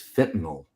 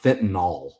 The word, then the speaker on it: fentanyl: my wife, is that people pronounce that drug like it's an alcohol with an NOL. It is NYL. It is fentanyl. It is not fentanyl.